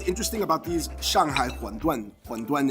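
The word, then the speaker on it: 馄饨: So what's interesting about these Shanghai huanduan, huanduan is how you say in Mandarin, how you say wonton.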